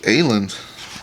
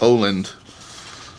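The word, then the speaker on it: Åland: folder full of oh look at alen or actually I think that's pronounced Oland Islands um H I'm not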